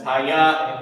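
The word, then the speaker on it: היה: And this is pronounced, this is hayat, it means to be.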